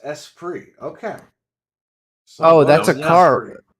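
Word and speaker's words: Esprit: to be worth anything the espert is pronounced espr okay oh that's a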